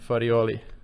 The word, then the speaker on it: Farioli: ado i would like to welcome mr farioli thank you so much and i'm glad that you pronounced so well my surname okay thank you